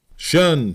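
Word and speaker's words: 'shun: resumed by the command shun Squad abbreviated from the attention and pronounced shun if the plea was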